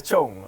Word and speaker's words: Tchong: Chong. Chong ya. Sebut T lah. Doi nyebut kira silent T lah.